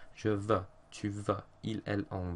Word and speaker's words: veux: In regards to pronunciation, some people have a tendency to say je vous, tu vous, il, elle, on, vous. But this isn't correct. EU makes an E sound. Je veux, tu veux, il, elle, on veut.